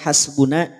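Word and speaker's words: حسبنا: Hati-hati, hasbuna, nun pada lafaz hasbuna jangan sampai dibaca tebal. Tidak tebal, dia tetap tipis karena punya sifat istifal wa raqiqan mustafilan min ahrufi.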